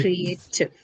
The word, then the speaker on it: creative: So tiv is the one which carries your suffix, and the one that goes before it is a, right? A. That syllable is the one which carries your stress.